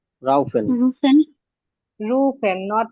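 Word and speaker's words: rufen: রুফেন। রুফেন, নট রাউফেন। ইউ এর রুফেন।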